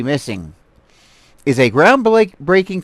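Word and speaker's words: MSSNG: support Autism Speaks but this is what's crazy missing is how this is pronounced MSS n g missing is a ground BL breaking collaboration between Autism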